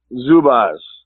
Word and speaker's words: Zubaz: you settle a bet for me is it pronounced Zubaz or zubas zubas okay awesome well I I had an opportunity